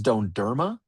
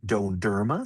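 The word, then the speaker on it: dondurma: So, what's left is donerma. So, when you see the ice cream, think donerma.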